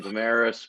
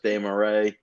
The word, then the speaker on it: Desmarais: So yeah, I pronounce the last name Damaris, but the French like pronunciation is Desmarais.